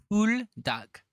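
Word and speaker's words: Buldak: some buok spicy Ramen it's not Bo it's po duck pool duck you should watch you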